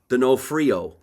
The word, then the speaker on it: Donofrio: Donofrio.